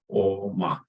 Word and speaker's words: Om: Om is made of 3 letters in Sanskrit: A, O, Ma. This A, and there's O, and there's circle of Ma, A, O, Ma. When the three syllables come together, then it makes this sound Om.